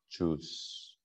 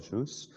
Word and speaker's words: Jews: 왜냐하면 salvation is from the Jews. From the Jews. 이렇게 된다라는 거예요. 네. 그러면 여기서 이 주와 발음이 어떻게 다르냐면 이 즈는 여기 즈는 즈 사운드예요.